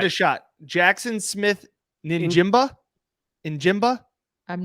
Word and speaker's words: Njigba: In Jigba. It's all pronounced. Jigba. Every letter basically is pronounced. Like you look at it Njigba. and think you're not going to say this letter or that letter.